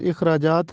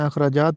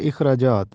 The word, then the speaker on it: اخراجات: کو کہتے ہیں۔ اخراجات، یہ درست تلفظ اخراجات ہے، الف کے نیچے زیر لگا ہے، ہم اس کو زبر کے ساتھ پڑھتے ہیں، اخراجات پڑھتے ہیں جو کہ غلط ہے۔ درست تلفظ ہے اخراجات۔ یہ درست تلفظ ہے